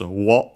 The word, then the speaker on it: を: according to the context, the object particle O, written as wo and pronounced as such in careful speech and also singing.